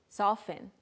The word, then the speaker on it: soften: Soften, soften. There's a T there, but usually we just say soften.